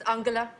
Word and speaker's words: Angela: is um um Angela America how do you pronounce it in but would that be in German Angela it's actually it's Angela what my name is Uncle no don't correct